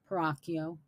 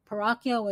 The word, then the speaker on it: Peracchio: Well, their names were Alberto Peracchio, or actually, Peracchio is the American pronunciation. It's really Peracchio. Peracchio.